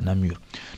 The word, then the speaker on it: Namur: université de mon université de Namour voilà Namur donc ça franchement comme